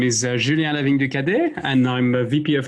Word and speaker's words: Julien Lavigne du Cadet: for us, which I think you're going to pronounce a lot better than I can. Sure. Hi, everybody. So my name is Julien Lavigne du Cadet, and I'm a VP of Engineering at Zoe.